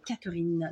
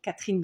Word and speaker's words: Catherine: Merci Rosemary, voilà, de très belles attentions vraiment, et évidemment merci Catherine, Catherine dans le sud on dit, parce qu'on dit toutes les lettres et toutes les syllabes, mais sinon Catherine dans le nord.